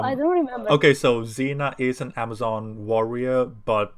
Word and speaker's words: Xena: god king xerxes so we pronounce it like the first x and you guys pronounce it like the second x yeah oh interesting who